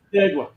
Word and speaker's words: Canandaigua: No, and I ain't gonna try to pronounce it, but I had a great time. I can say it. Canandaigua.